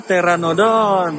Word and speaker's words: Pteranodon: Oh, Pteranodon. Karena P-nya nggak bilang. Oh, P-nya nggak dibilang. Pteranodon.